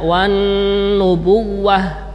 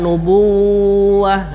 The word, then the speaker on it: النبوة: أن يؤتيه الله الكتاب والحكم والنبوة Nah, di sini wawunya tasdid tapi tidak berhenti di tidak berhenti di wawu itu. Jadi membacanya wan nubuwah bukan nubuwah gitu. Tapi wan nubuwah pada tasdidnya wawu dibaca secara cepat ya.